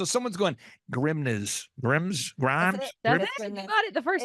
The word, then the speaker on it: Grimes: the final question is how do we accurately pronounce your last name because you spell your last name it's g r i m NES so someone's going grimness Grims Grimes you got it the first time if you